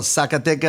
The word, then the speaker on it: Zacatecas: pronounce it very slow. Zacatecas. There it is. It is one of those states. Not Zaca. Thank you.